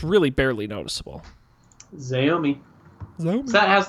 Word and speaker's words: Xiaomi: Xiaomi. Xiaomi.